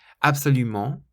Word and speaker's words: absolument: Absolument, absolument, you stress the ment on the end, so it's not absolument or absolument, it's absolument, absolument. And fantastique, fantastique, so it's